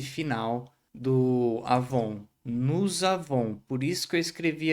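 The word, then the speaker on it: nous avons: E não pronuncia esse S final do Avon. Nos avon.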